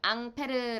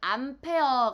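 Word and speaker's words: Ampère: 기억을 해 주셔야 했구요 이 전류를 처음에 발견한 아저씨 이름이 안 페르 라고 했었죠 근데 이에 영화 이름 으로 바꿈 영어 발음으로 하면 은 암페어 가 됩니다 그래서 이 전류의 단위는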